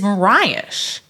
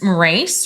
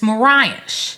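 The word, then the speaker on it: Morais: called cherry wine perfect it's easy enough to pronounce but the the winery is Mirage okay it's m-o-r-a-i-s thank you so I thought it was race or something like that but it's Mirage okay is how it's pronounced lovely Winery I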